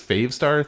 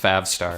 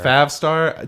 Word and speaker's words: Favstar: Like, you talk about this Favestar thing, and I just don't know it's pronounced Favstar. Favstar.